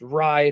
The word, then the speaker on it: rie: It's pronounced rye because it's a shortened version of Reiki, which is spirit energy.